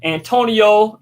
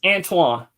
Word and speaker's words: Antoine: Like, even when I met you, with all due respect, you know, everybody mispronounces my name. I've been called Anthony, Antoine, sometime, but Antonio, Antone, Anthony, Anthony. Right. Pronounce it. It's Antoine. Antoine. Yeah.